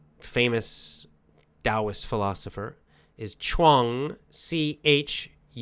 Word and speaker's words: Chuang: Taoist philosopher, is Chuang, C-H-U-A-N-G. Chuang, I don't know how to pronounce it in Chinese, but that's how we say in English.